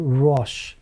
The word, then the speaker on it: RoHS: So this leads us on to the conversation we're going to have today about a little law called RoHS. It's spelled RoHS, and it stands for the, not removal, but Is it restricted?